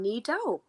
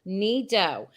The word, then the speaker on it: Nido: And I'm Nido. Okay. Nido. Am I saying it right? Oh, perfect. Ni and Do.